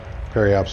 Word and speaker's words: periapsis: So we're not too far from where my periapsis would have been. Periapsis, excuse me. A lot of people drop that last syllable for whatever reason.